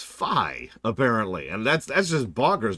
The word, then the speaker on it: Phi: But yeah, it's actually not Fee. It is Phi, apparently.